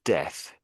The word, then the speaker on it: death: the with the word death. T and again death. Yes. Yeah. Pretty pretty much. It's the th sound on the end.